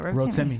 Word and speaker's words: Rotimi: Yeah, Rotimi.